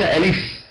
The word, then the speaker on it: ألف: أقول ألف ولا أقول أيضا ألف ألف، ليس ألف من الفعل لف ألف، لا، الألف تنطق هكذا ألف، كما نقول نحن في العامية المصرية ماشي زي الألف وليس ألف ألف.